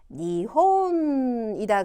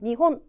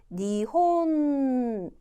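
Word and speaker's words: にほん: 이건 뭔가요 자 여러분 일본어 글자는 한 글자가 한 박자를 가져서 한국말처럼 니혼 이렇게 하시면 안 되고 응을 존재를 밝혀 주셔야 돼 그래서 니혼 니혼 이렇게 한 박자의 존재를 밝혀 주셔야 돼요 발음 정확하게 자 두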